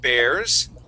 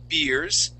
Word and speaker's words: bear: to be reading about bears okay that is pronounced with an a sound it would not be beers okay beers is what we drink we drink beer okay but bear with a long a bear bear is this